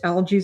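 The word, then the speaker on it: Algiz: This is called algies in Nordic, pronounced algies.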